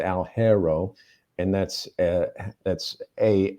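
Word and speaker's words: Alghero: the northwest coast into a a place called algero and that's uh that's a l g h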